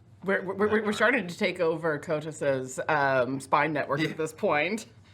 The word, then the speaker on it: Kotas: that he worked for Kotas. This is not Coitus. Jackson Cotis. Spelled with a K because it's fantasy.